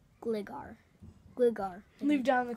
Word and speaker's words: Gligar: It's pronounced. This one? We had. Glider. Wait. Let me see. Glagger? Gligar.